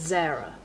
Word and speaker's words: Zarah: So he's saying if Zara's spelled with a H on the end, it's Zarah. So like Sarah but with a Z with a zed.